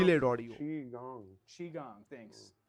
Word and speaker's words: Qigong: says it's pronounced Delayed audio. Qigong. Qigong. Thanks. जी Did I हाँ say Chai Gong?